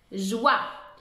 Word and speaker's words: joie: Joie. J-oie. Avec un E muet à la fin.